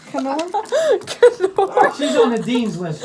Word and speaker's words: Knorr: Nor, you idiot. You don't pronounce the K. Knorr. She's on the dean's list, right? She can't say nors. Canor.